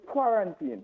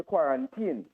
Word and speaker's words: quarantine: Because that word could be pronounced two ways. You could say quarantine, or you could say quarantine, right?